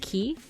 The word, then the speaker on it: chi: So this next one is Ki. I've heard it pronounced as Kai, but I guess it's supposed to be yeah, it's supposed to be Ki.